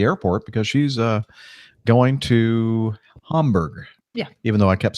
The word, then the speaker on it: Hamburg: You sure it's not Hamburg? Chat room. I hear a lot of Americans pronounce it Hamburg, but Yeah.